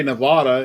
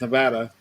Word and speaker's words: Nevada: A lot of people say Nevada. It's Nevada.